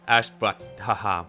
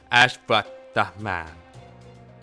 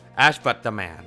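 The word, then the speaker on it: Ashvatthaman: His name is Ashvat-Thaham. How do you say this? His name is Ashvat-Thaman. Ashvat-Thaman, I would say.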